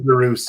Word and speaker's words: DeRoos: how is it DeRoos? I'm always going to. It is DeRoos.